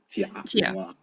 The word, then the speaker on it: Jia Pingwa: Is it Jia Pingwa, or how do you pronounce his name? Jia Pingwa.